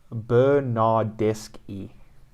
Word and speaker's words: Bernardeschi: assistance so italy um frederico bernardeschi is frederico bernardesque yeah okay giorgio chiellini is giorgio ki uh